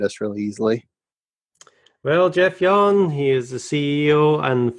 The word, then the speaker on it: Jahn: is Jeff and the last name is J Ahn which you would never get from the pronunciation non you'll be able to find us really easily well Jeff Yan he is the CEO